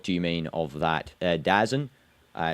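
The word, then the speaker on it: DAZN: Dazzen. Uh it's well it's actually pronounced as well the zone. I I just pronounce it dazzen.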